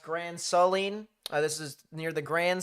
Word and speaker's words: Grand Saline: This is, someone said it's pronounced Grand Saline.